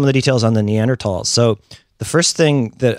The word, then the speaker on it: Neanderthal: People kind of pronounce it both ways. I think Neanderthal is what I mostly hear.